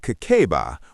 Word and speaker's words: Kakeibo: Kakeibo, pronounced Kakeiba, was invented in 1904 by Hani Motoko.